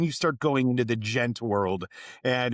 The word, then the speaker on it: Djent: It's the gent like but then the D is silent.